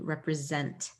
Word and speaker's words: represent: scent and this actually turns into a little bit of a z sound when we say it quickly represent so sometimes s's can rep represent a z sound as well s can stand in place of a z sound so be ready for those different sounds coming in there rep re sent every letter gets a sound in that word just want to put